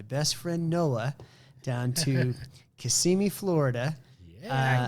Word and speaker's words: Kissimmee: friend noah down to kissimmee florida yeah i'm not kissing me do not say kissing me did i say it right it's easy you see me yeah he's like good